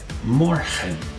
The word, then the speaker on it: morgen: Morgen. Morgen, which means tomorrow. Most of the time in Dutch, remember, the EN will be pronounced and not N. So, morgen is actually correct.